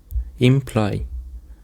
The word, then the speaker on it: imply: Imply. The stress is on the second syllable.